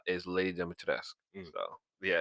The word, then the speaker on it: Dimitrescu: anyway, I looked up the pronunciation. So they said that in some places they actually call her Lady Demetrescu Mhm.